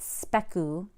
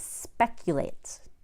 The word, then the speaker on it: speculate: accuse accumulate articulates speculate it is not spec you speculate no it is speculates molecule accurate it is